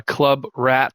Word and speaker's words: ClubWratt: or I should say the developer's name uh Club Rat, that's spelled c l u b w r a t t then you can pull up their uh add-ons that way.